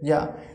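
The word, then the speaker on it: ja: yacht pronunciation is here that's why we will pronounce this is like this yeah okay yeah and it means yes in german language so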